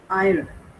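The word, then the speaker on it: heir: हम उनको हावर नहीं बोलते हम ज को साइलेंट रखते है आव माने ओ से साउ एक वर्ड है ठीक है फर आयर ठीक है मने उत्तराधिकार नरे बल ये लिख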